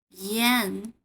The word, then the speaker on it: yan: So please look at the first one, yan. Yan. It's very similar to yan, Yankee in this word, Yankee. Yan.